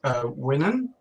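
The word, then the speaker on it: Uinen: There's also, I think her name's pronounced Winan, who's the Maya of the ocean, who's described in a very similar way to how Tolkien described his original merpeople.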